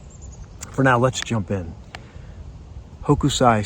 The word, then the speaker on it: Hokusai: Name the artist and it's in English it's pronounced Hokusai and he was a famous became famous artist